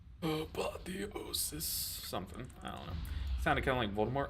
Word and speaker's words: apotheosis: is so good and I say apoth because I'm pretty sure I pronounced the full thing wrong apotheosis no actually I can confirm that I pronounce it correctly because there's a boss one of the bosses of the raid last tier said apotheosis right apotheosis something I don't